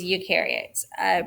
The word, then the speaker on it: eukaryotes: they remember they said eukaryotes you rhymes with do so they do have